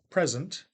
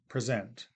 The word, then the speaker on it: present: stressed syllable, as in the noun present and the verb present that you see there, right?